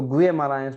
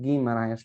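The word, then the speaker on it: Guimarães: मरायश है या नहीं, तो हम उसको गुए मरायश नहीं पढ़ना है, हमें गी मरायश पढ़ना है ना।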